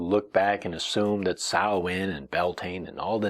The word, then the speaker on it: Samhain: various holidays such as sawin sawin was a very much the Irish name for it Sam sa sa sa